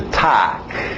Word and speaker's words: talk: Continuando, mais um verbo que tem o L, mas o L é mudo. Okay? Então, escrita aí, vai nessa escrita. To talk.